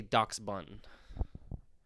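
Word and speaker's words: Dachsbun: And then I think the pronunciation on this one I think is almost opinion based because the dog that it's named after, people say it differently. I'm gonna say Dox Bun. Is how I'm gonna Okay, choose to pronounce okay, that one goes hard.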